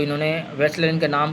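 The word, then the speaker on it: Wechsler: तो इन्होंने वैसलर इनके नाम का नाम से डब्ल्यू से वेसलर नाम बना है इनका।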